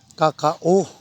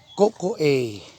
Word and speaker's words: cacao: lang mga ka so ang correct pronunciation ng Kakao kung sa Bisaya pa Kakao pero ang correct PR niyan coco a coco a ang Cacao no yan